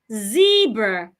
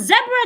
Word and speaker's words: zebra: in zebra not zebra zebra of course zebra 2 is correct according to the dictionary that word has two pronunciation you can say zebra you can say zebra